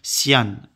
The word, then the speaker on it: cyan: beige c'est bête et cyan on va prononcer Sian donc voilà Sian car